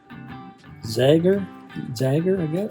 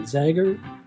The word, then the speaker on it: Zager: So now we're going to put on these Zager, I guess I don't know how to say it. Zager, Z-A-G-E-R, Zager acoustic strings.